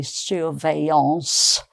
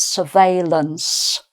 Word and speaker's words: surveillance: So with a proper French pronunciation, I suppose it would be suance, but uh we have a sort of semi French English mixture with this one. So it's surveillance. Okay.